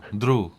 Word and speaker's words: Dhruv: Is it DRV? Yeah, it's Dhruv with the rupee sign. Drew.